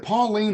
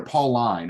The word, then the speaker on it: Pauline: the pauline epistles ken is it pauline or paul line i hear both ways uh how do you say it i i usually say paul line just because pauline sounds like somebody's aunt so well and typically